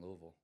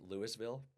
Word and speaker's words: Louisville: to say it wrong I used to say Lewisville oh okay I Louisville no because I I learned from Jack Carlo oh he was like no you have to let it draw so you have